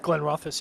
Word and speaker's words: Glenrothes: I had a bottle of it's is it Glenrothes? Is that how you say it? Glenrothes, yeah.